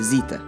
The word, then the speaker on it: zeta: La prochaine lettre est la lettre zeta. Zeta a une grande ressemblance avec la lettre Z en français. Et elle se prononce exactement la même chose aussi.